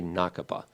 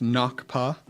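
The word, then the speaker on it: ngakpa: first of all what and correct my princess pronunciation but what is a knockaba what what sort of training what are what is an acapa and and what sort of training did you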